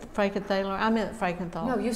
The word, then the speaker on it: Frankenthaler: um because she did the did i say frankenthaler i meant frankenthal no you said it right